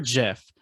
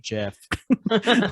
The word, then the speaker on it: GIF: and i was like the creator calls it jiff like i'm not right